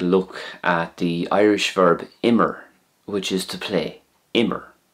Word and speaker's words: Imir: Because it's a two-syllable word, as in Imir, two syllables, it has a different ending to the one-syllable verbs.